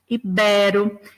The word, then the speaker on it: ibero: E aí a gente tem alguns casos, só para ficar claro onde é a sílaba tônica. Então, filantropo, ibero, ínterim, libido, Lúcifer, misantropo, ômega, pudico, rubrica e ruim, né?